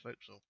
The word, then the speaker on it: forecastle: And remember, forecastle, although it's spelt forecastle, it's pronounced forecastle.